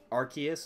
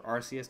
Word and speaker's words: Arceus: there's there is um the god of Pokemon Arceus or Arceus depending on how you like to pronounce it like he's literally even God the